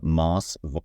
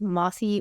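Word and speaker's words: Mosse: right it's no it's it's counterintuitive it's Mossy Weinstein okay Mossy Weinstein great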